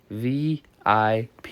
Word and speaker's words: VIP: He pronounces the acronym as a word rhyming with zip. VIP, you say.